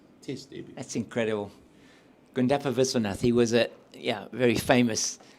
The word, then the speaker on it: Viswanath: Need to pronounce this correctly. Viswanath. Viswanath, yeah.